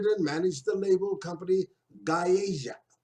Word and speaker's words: Gaeja: he also founded and managed the label company Gaeja. Correct that pronunciation? Did I get it right? That's correct. Okay, Gaeja.